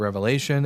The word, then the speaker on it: Revelation: Um, someone said it's pronounced Revelations. No, it's pronounced Revelation singular.